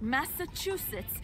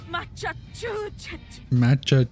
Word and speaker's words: Massachusetts: That'll make people think that Massachusetts is actually meant to be pronounced Machachu-chu-chu.